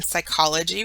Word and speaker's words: psychology: P then the n PS has a s sound like in Psychology which is the study